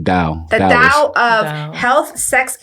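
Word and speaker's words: Tao: that um called the is it TA or da it's more of a d pronunciation da the da of Health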